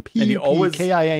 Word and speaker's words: Pupkin: Pupkin. He always finishes often mispronounced and misspelled.